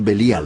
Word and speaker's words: Belial: Beli Yaal, que nosotros pronunciamos Belial.